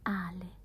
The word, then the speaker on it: Ale: Yeah, like beer, yes, but we pronounce it Ale.